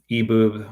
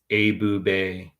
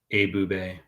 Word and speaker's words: Ebube: Eboob. My first name is pronounced Abube. Abube.